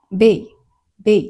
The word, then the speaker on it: 米: 米って、別の読み方をすると、ベイって読むんですけど、